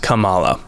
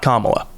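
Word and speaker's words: Camala: tell you uh so this planet is named kamala not kamala that is the vice president ah okay this this one is kamala uh and it is spelled c-a-m-a-l-a realized i shouldn't be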